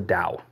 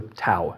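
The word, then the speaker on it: Tao: about what he calls the Dao or the TAA if you will if you rather pronounce pronounce it that way t o so he takes the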